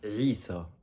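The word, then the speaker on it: عيسى: Ensuite, on a le prénom Isa alayhi salam et Isa, et non pas Isa. C'est bien avec un Ain au début.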